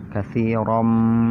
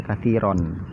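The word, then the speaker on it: كَثِيرًا: Katsiram minadh-dhon, katsiram. Salah kalau dibaca katsiron. Ya, salah. Kalau dibaca katsiram berarti dibaca idhar. Sedangkan ini bukan hukum idhar, tapi hukum idgham. Ya, hukum idgham. Maka dibacanya dimasukkan ke huruf mim. Katsiram.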